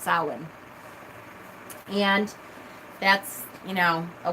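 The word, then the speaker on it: Samhain: spelled sa mhm a I end but it's pronounced sullen and that's you know a witch's holiday my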